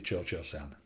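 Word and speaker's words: Cio-Cio-San: CI o CI o sa and but it's pronounced apparently Churchill sound so in Opera Howie's Churchill Sam better known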